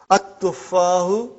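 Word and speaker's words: التُّفَّاحُ: At-tuffahu. Okay. See, there is no shadda anta. Dhamma is given. But now your mind knows that that is a sun letter, so you will pronounce as at-tuffahu.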